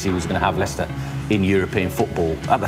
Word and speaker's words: Leicester: They couldn't even pronounce the name Leicester. They called it Liest.